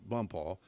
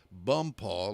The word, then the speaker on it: Bonpas: area, it was called Bumpaw, but it's spelled Bonpas, but it's pronounced Bumpaw like it's Bumpaw. Wow. Spelled wow. it's pronounced that way in French.